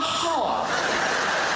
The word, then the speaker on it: half: be back in a half half half a half half even half has has an L in it half half a half